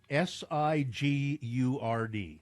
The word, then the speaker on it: Sigurd: How would you pronounce this Utah town? s i g u r d Sigurd. Yeah. Uh although I heard someone on KSL uh last week's call it Sigurd.